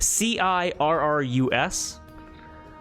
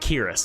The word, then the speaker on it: Cirrus: do you spell that c i r r u s or is it kirus I think it's Cirrus I think Cirrus I think so it sounds better as serious uh as uh this